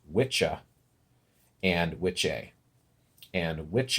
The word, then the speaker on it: Wicca: Angelo Saxon anglo-saxon words it's actually as I understand it pronounced witcha and which a and